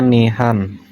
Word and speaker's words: nihan: Nah, ini dibacanya nihan. Nihan ya.